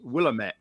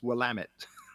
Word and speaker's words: Willamette: there was one i always had a problem pronouncing it spelt w-i-l-a-m-e-t-t-e and i always thought it was willamette but it's willamette oh well am it very nice whatever and